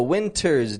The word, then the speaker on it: winter: One other thing is that it's not a winter's day, but a winter's day. A winter's day. The T kind of vanishes in the word winter when Americans say it real quickly.